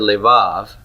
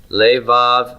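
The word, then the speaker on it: לבב: How many vowels do I have in levav? 2. 2 vowels. Good, so how many syllables do I have? 2. I have 2. The final syllable, is that one tonic or pretonic? Tonic, good.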